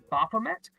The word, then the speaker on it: Baphomet: I think I mispronounced it last week. What we are talking about is Baphomet.